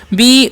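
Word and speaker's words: bow: बी ओ डब्लू तो इसे बाउ नहीं पढ़ना है क्या पढ़ना है तो बढ़ते हैं क्या लिखा बी ओ डब्लू तो इसे बऊ नहीं पढ़ना है क्या पढ़ना है बो पढ़ना है ठीक है यानी कि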